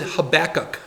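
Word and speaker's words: Habakkuk: Um, we pronounce it Habachok.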